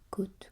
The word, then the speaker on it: côte: Une côte de port se prononce avec un O. Alors un O avec un petit chapeau. Fermé comme dans haute.